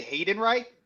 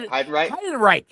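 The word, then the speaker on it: Heidenreich: I say I say Hayden Reich, but I'm not hiden Reich.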